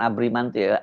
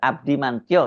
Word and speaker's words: Abdimantio: Oh, bukan Abrimantio, Abdimantio yang benar.